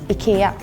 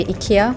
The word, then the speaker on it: IKEA: like Smooth language so in Sweden we say Ika in Germany we say Ika in Belgium we say Ika uh in the UK we say Ikea in